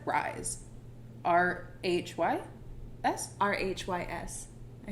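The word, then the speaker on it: Rhys: Oh, I said Rise. R-H-Y-S? R-H-Y-S. I say Riz.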